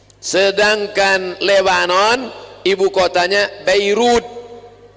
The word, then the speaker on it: Beirut: Jangan bacanya Damascus. Sedangkan Lebanon ibu kotanya Beirut. Bairut.